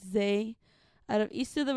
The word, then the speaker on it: Zzay: This is Zzay. Not ZIZZLE, not ZIZZLE, not ZIZZLE, or however the fuck you misspell it. It's Zzay, out of East of